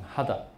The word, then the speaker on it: 秦: 哈达啊，日本人有人姓秦哈，他不念姓啊，念成哈达啊，然后无忌啊。